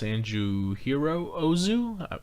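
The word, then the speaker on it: Yasujirō Ozu: I believe his name is pronounced Sanjuhiro Ozu. I might be mispronouncing that first name.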